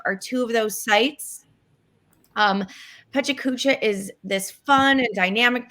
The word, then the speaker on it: PechaKucha: It's a Wright Pechakucha, or some people pronounce it Pachachka event.